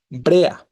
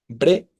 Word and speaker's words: brea: Brea, ¿no? Brea. Se separa la E de la A, ¿no? Tenemos hiato también, grave terminada en vocal.